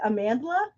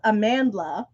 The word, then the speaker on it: Amandla: Is it Amandla?